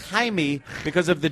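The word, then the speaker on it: Jaime: not that it's it's Jamie in Spanish is pronounced Hae because of the J right you stupid who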